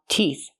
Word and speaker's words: teeth: tooth more than one teeth the th makes a sound with no voice F like in thank you and think again teeth these are my